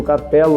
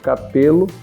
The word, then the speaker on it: Carpello: Uns pronunciam Carpello, outros Carpelo, né?